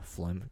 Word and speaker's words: phlegm: this time of year phlegm spelled with a ph it is indeed isn't there a g in there too yeah that's like there's spell phlegm for us p h l e g m flem can you can you